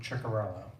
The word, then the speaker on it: Ciccarello: warning directed to you Mr secret please proceed it's Michael ciccarello I I apologize for